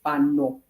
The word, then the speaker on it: Fano: my family, they support Fano. Not the way I say it is almost like a Farangi, a white person. Fano. That's not how you say it. You say Fano.